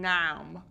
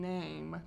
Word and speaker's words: name: I'm not going noun, I'm going name, because there's a silent E at the end. You don't hear it.